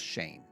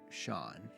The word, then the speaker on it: Shaen: It's spelled Shaen. It spells Shane. right? Yeah. So my whole life had been Shaen, I've been Cheyenne, I've been Shazin, I've been the craziest names, anything but Shawn.